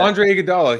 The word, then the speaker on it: Iguodala: Andre Iguodala.